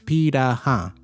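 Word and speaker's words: Pirahã: It looks it's spel it's literally spelled like piranha, but it's pira.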